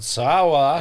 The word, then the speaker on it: Saola: It's called Saula. And by that I meant, how do you spell it?